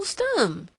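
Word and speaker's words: Stumm: grin why it's Colonel stum he cried he pronounced it like the first syllable in stomach very pleased to meet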